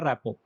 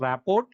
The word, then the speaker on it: rapport: A relationship in which mutual trust is there, it is called a rapport. It is not pronounced as rapport, it is pronounced as rapport. The RT is silent there.